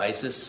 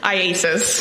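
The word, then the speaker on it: IACIS: I AIS Isis yes can we call it Isis yes how do you say it iasis iasis all right I just want to shorten it don't call it Isis all right so iasis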